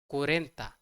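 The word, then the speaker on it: cuarenta: will come right so we don't say uh tra for 40 we say it as Cora so for 41 Uno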